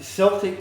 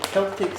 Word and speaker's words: Celtic: I'm going to use uh Celtic salt or Celtic salt depending on how you prefer to pronounce that these salts in in